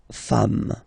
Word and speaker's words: femmes: Femme, you write it like it was at the singular form, and then you just add this S at the end, and as we said, you don't pronounce it, so you get des femmes, okay?